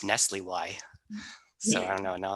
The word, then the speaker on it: NSLIY: day in this business, but apparently NSLIY, which is the National Security Language Initiative for Youth, is pronounced Nestle Y.